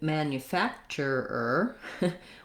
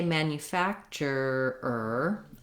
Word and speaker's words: manufacturer: factor manufacture and then when we change it to man manufacturer we just add another er now i say that just add another er it's not easy to do but when i say manufacturer i have to say my er with my tight r relax it and then say it